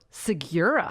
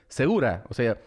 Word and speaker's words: Segura: Him and his brothers, they all pronounce it Segura. -Really? -Yes. I mean, they are all gringos. But since my mother is Latin, and she speaks Spanish, I know that the word, not just the last name, but a word pronounced segura. Segura. If you want to pronounce it as an American, you have to say it Segura.